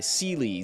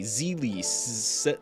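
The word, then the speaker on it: Seele: the previous world, there's a character named Sele. I think it's spelled S-E-E-L-E, like French for soul. But everybody would say, like, Sele, Seely, Zeely, like, there were 4 or 5 different ways of saying it.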